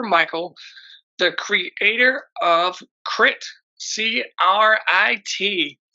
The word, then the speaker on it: C.R.I.T.: We're here today with Christopher Michael, the creator of Crit, C.R.I.T. Right? Yep. It's do you say crit or do you spell it out? I say crit because the whole Okay.